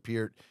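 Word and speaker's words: Peart: I was like ah he said Pier all these years I'd been pronouncing it wrong I was even using per shampoo as a young fan but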